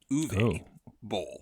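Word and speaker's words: Uwe Boll: guest host Jonathan Rober reminded us the actual pronunciation of this director's name is uve like gr but uve Bowl uve that's how you say his name so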